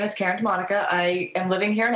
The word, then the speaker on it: DiModica: DiModica. DiModica. No R, or if there is, you don't pronounce it. Okay. So Karen, please tell us a bit about yourself. My name is Karen DiModica.